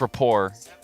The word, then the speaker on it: rapport: ballet debut tarot yeah Rapport oh cuz it's Rapport how you say it that ending with the